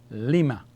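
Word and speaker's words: لِمَ: Lam Kesra is Li, and Mim Fatha is Ma. So we have Li and Ma. Lima. Short.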